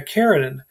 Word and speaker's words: Karenin: is focused on anna karenin um he says by the way that the original translators of that novel got the name wrong there should be no a on the end of karenine and i i think